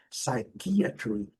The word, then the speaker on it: psychiatry: Essa aqui é interessante também, marquei uma lembra forte aqui, a segunda sílaba é a sílaba forte, psychiatry.